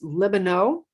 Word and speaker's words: Libenow: yes and i think i've been saying your name wrong it's lebanon let me know let